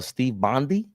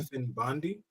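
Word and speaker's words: Stefan Bondy: We see along with that news, I heard uh Steve Bondi. Hope I'm saying his name right. Hope I ain't getting your name wrong. Stephan Bondi.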